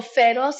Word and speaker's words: Feroz: So Feroz in Spanish means fierce, and it's spelled Feroz, and it has all the letters of my name as That's well.